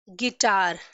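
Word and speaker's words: guitar: ठीक है, next example, गिटार, गिटार, सी यू का प्रोनाउंसिएशन साइलेंट है, हम यू को प्रोनाउंस नहीं कर रहे, जी के बाद आई का प्रोनाउंस कर रहे हैं गिटार।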